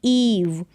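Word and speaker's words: Eve: जैसे कि एग्जाम्पल्स देखेंगे, यहाँ पर ई के बाद एक लेटर छोड़ा जो कि वी है और फिर ई आया है, तो इस ई का उच्चारण ई होगा, लॉन्ग ई साउंड बड़ी के रूप में। जैसे कि ईव, यहाँ पर भी ई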